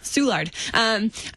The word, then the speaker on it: Soulard: Yeah, Soulard. Not Soulard.